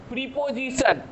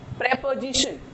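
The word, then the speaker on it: preposition: प्रेपोजिशन, प्रेपोजिशन, ये जो ओ है, ये ओ यहाँ जो हमारी ओ होती है उसकी प्रोनाउंसिएशन आ होती है। जो ओ होती है उसकी प्रोनाउंसिएशन हम लोग अ कहते हैं। प्रेपोजिशन, प्रीपोजिशन नहीं, प्रेपोजिशन।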